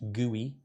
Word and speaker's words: GUI: user interface or GUI which is pronounced guy and that guy will